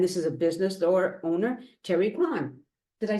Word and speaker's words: Kerry Krahn: I'm so excited because as you can see, somebody's here in my Zoom room with me, and this is a business owner, Kerry Krahn.